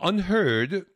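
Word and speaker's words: UnHerd: Et H-E-R-D, ça a un autre sens en anglais, ça se prononce également heard, ça veut dire troupeau.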